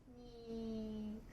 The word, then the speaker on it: 肉: 読み方は肉です。